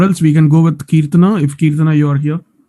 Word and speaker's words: Kirtana: Okay, it's Kirtana. I was pronouncing that as Kirtana. So maybe yes. Now I'm pronouncing that correctly.